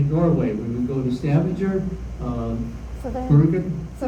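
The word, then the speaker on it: Stavanger: We would go to Stavenger uh Sanganger. Thank you for pronouncing it right and Ellison and up in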